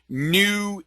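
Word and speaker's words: GNU: It actually stands for New Image Manipulator Program. And new with a silent G, G-N-U.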